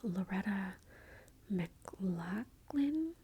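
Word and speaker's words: Loretta McLaughlin: Boston Strangler but how the this woman named Loretta McLachlan that's how you say her name became the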